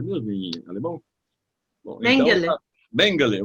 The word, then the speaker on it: Mengele: A pronúncia é Mengele mesmo em alemão? Bom, Mengele.